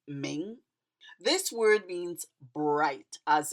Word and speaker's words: 明: This word is pronounced ming.